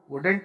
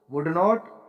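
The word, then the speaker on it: wouldn't: वुड नॉट move, वुडेंट move एक ही शब्द है, तीन तरह से प्रोनाउंस कर सकते हो आप इसको। वुड नॉट, वुडेंट या वुंट, राइट।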